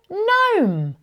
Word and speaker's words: gnome: It's a gnome. Can you hear the N sound at the beginning of gnome?